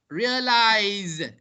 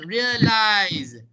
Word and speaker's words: realize: British, realize. American, realize. Both is pronounced with a Z sound, not an S sound.